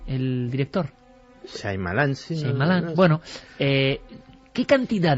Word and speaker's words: Shyamalan: ¿cómo se pronuncia? Shyamalan, el director. Shyamalan, sí.